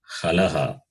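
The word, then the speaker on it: halaḥ: They are called halaha.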